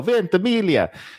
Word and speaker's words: Ventimiglia: I'm so proud I know how to pronounce his name. Milo Ventimiglia.